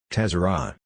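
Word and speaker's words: צרה: In Hebrew, distress or trouble is pronounced tezerah.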